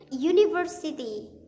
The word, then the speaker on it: University: dari pronounciation cara penyebutan seperti University kan kalau University itu u Universitas gitu Universitas University itu pakai u kan huruf vokal Kan awalnya tapi kenapa menggunakan e bukan an bukan e an University ya